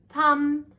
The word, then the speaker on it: thumb: Thumb, B is silent. Shh, no sound. He's just there, but he doesn't make a sound.